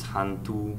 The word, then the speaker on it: Hán tự: I think it's Han Tu. I'm not sure about the tones of Vietnamese because right.